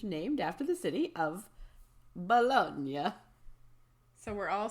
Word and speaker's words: Bologna: It is a sausage derived from the Italian mortadella, a similar looking finely ground pork sausage named after the city of Bologna.